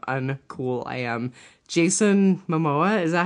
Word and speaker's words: Momoa: Jason Momoa, is that how you say his name?